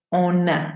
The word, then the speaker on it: on a: Tenemos una, porque si el on está solo, yo no digo on, no pronuncio esa n, sino on, on. Entonces aquí sí es on a, esa n toma sonido.